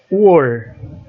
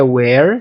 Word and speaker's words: were: Were. A pronúncia não é where. Se você falar where, vai ter um H aqui, vai dar a ideia de onde.